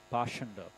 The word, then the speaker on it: Pakhanda: The word Pakhanda used in this verse is sometimes pronounced Pashanda.